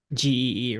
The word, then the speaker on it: Gee: Do you pronounce it G or G or G, yeah. G? Okay. GE. Um, GEE, right.